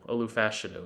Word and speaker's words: Olu Fashanu: Olu Fashanu, or Fashanu. Olu Fashanu is how you pronounce it, out of Penn State.